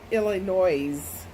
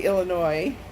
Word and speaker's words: Illinois: the different states perfectly I know for sure you don't say Eli it Illinois's you say Illinois and something like that